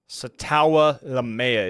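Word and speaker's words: Sataoa Laumea: him but wasn't a top guy of mine satawa lamea is how you pronounce the Seahawks guard pick Titans pick is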